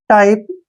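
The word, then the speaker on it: type: जैसे Python, टाइप, इसमें भी दो कॉन्सोनेंट के बीच में वाई आया है, इसलिए हमने इसको आई पढ़ा है।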